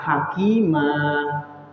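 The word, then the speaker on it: حكيما: Kalau ketika wakof ataupun berhenti, fathatain ini diganti alif. Diganti alif. Ya, diganti alif. Makanya bacanya hakimah, ya.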